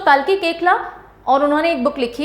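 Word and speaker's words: Koechlin: famous actor कालकी केकला इट is pronounced as केकला नॉट कोचलिन right so अब ये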